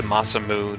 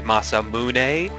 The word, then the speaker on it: Masamune: Trigger where you found the legendary sword the masam moon which I believe is actually pronounced the masamune but I hate that pronunciation I think it's